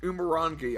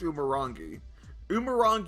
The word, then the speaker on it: Umurangi: Well, anyway, this is apparently Umurangi. I believe that's how it's pronounced. Umurangi Generation.